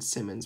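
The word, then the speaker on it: Simons: so listen those in Anthony Simon's I believe is how this is pronounced ID I know it was always I was always saying Simmons but I think it's Simon's but looked well in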